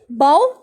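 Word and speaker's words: bow: बाउ काउ की तरह प्रोनाउंस होता है, जिस तरह काउ पढ़ते हैं इस तरह बाउ पढ़ते हैं।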